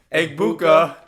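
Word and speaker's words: Egbuka: We need to be able to pronounce his name correctly. Yeah. Eggbuka.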